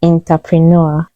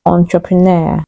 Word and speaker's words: entrepreneur: sixth word is entrepreneur many people say entrepreneur but the correct pronunciation is entrepreneur it's a French word my brother is a